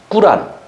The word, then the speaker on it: 꾸란: 우리는 예수님을 하나님으로 믿는 사람들이 줘 이슬람 문 꾸란 뭐 코란 이라고 하는데 뭐 그들의 발음으로 얘기한 꿀 아니라고 잖아요 그것을 경전으로 생각하고